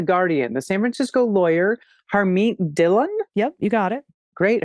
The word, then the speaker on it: Harmeet Dillon: And AG, I'm going to look to my co-host to help with this pronunciation, but this is from The Guardian. The San Francisco lawyer, Harmeet Dillon.